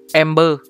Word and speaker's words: MB3R: MB3R thực ra nó là Ember.